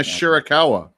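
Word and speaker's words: Shirakawa: We got Timeless Tony Storm taking on Mina I I always say her last name wrong. How do you say it? Mina Mina Shurikawa.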